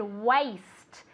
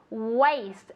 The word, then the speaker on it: waist: Waist. Waist. As if it were, como si fuera. W-E-I-S-T. Waist.